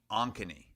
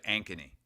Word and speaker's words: Ankeny: time with Ankeny as well he was saying anony I believe yeah instead of anony yeah Kyle says he's watching on YouTube he